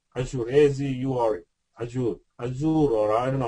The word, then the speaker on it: Azure: Azure, or I don't know how to pronounce that.